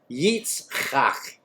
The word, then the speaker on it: Yitzchak: The HalleluYah Scriptures told me that I was the only one they ever met who could pronounce, which one was it? Yitzhak. Yeah, Yitzchak.